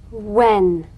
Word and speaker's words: when: head house hair hand words that begin with WH are pronounced H W when what whistle whisper which